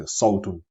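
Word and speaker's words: صوت: So it's similar to the S sound in the word sword. So a little bit darker and stronger. Sword in English, sword, and Sawtun in Arabic.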